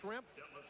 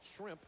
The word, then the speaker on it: Schrempf: So, we have Schrempf. If you mispronounce it a little bit, call it Shrimp.